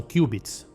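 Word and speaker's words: qubit: Só que antes de te explicar, você sabe o que são cubits? Você provavelmente pensou que era um erro ou uma falha na Matrix, mas essa é a pronúncia do equivalente aos bits do computador convencional.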